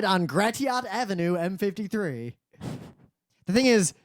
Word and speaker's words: Gratiot: much any streets it's like turn right on Gratiot Avenue m53 the thing is there's really no way to know it's pronounced grait unless you live there mhm like uh remember